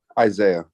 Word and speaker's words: Isiah: morning how do you say their first name Isaiah okay I just the the spelling here is